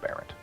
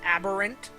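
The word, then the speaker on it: aberrant: in this room are aarant so okay I think it's pronounced aberant oh my God it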